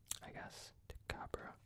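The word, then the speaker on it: Tycho Brahe: was native to Denmark, learning how to pronounce this astronomer's name correctly. Tycabra. Oh, okay. I see. I think it's Tycabra. I worked hard on that. But of course, in America, we pronounce it however it looks to us.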